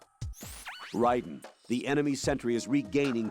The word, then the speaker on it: Raiden: oh Ryden the enemy Sentry is regaining Consciousness because literally never call s him Ryden once did we go over this yesterday why is it Ryden and not Raiden those goddamn glasses or